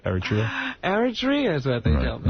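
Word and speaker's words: Eritrea: Aritria is what they tell me, right?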